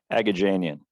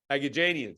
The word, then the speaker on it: Aghajanian: His name is Arthur Aghajanian, which I want you to pronounce, Arthur, because I am confident I mispronounced that. Aghajanian. Aghajanian, so it's actually very simple.